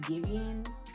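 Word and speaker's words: Giveon: I'm pretty sure a lot of y'all know, but his name is pronounced Gibbian, I believe.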